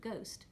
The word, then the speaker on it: ghost: And that's how the H, the silent H in the English word ghost, appeared. It's an influence from Flemish spelling.